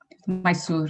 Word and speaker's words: Mysore: Mysore? Mysore, yeah.